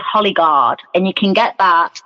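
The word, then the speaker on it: Hollie Guard: It's called Hollyguard, and you can get that on, it's spelled HOLLIE, Guard.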